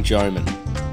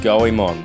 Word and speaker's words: Goemon: Just a small disclaimer, the game's actually pronounced Goemon, not Goemon.